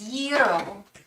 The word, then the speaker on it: gyro: and we are back the g is silent is Euro oh I've been mispronouncing this